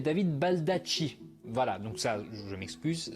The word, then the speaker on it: Baldacci: Premièrement, ça ne se prononce pas David Balducci, mais David Baldacci.